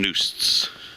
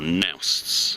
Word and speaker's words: noost: Boats and noosts, or nousts as they pronounce it.